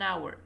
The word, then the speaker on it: hour: pronounced for example an hour do not pronounce the H but with hospital you